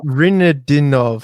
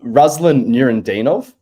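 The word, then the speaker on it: Nurudinov: Is the next one Rinadinov? Sorry, you pronounce it, Gus. So this is Ruslan Nurendinov.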